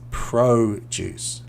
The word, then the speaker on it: produce: So the verb to produce, here it's produce. So the O sounds a little bit longer, produce.